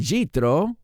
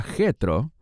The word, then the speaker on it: Yitro: verso 1 leemos y yitro Ese es su nombre en hebreo es posible que tu Biblia diga jetro pero es el mismo nombre con una pronunciación diferente y jetro o yo